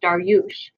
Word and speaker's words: Daryush: And Sarab calls him by the Persian version of his name, which is pronounced Daryush. Okay.